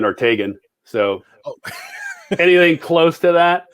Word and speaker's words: Ortegon: sorry i never even well it's the last name officially would be orthogon but nobody uses that those sort of spanish um uh pronunciation so our whole life it's been ortegan so anything close to